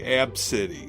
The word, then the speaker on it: Abcde: it's well it's pretty it's spelled ABCDE ABC so I got ABCD they she pronounces supposedly AB City absolute absentee absentee yeah